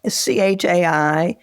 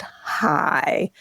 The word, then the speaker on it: chai: So, but c h a i can be pronounced chai like some Yiddish words or Hebrew words are, but it also is generally pronounced high.